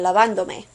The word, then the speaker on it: lavándome: Look at this word before we attach the me. It's got 3 syllables. La, van, do. Your stress is on van, and you want to keep it there. Therefore, when you add the me, which is another syllable, you don't want your stress to go on o. You want it to go on the syllable of van.